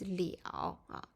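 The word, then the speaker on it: 了: complement instead we use Liao verb de or verb pay attention to the pronunciation here is Leo so this indicates whether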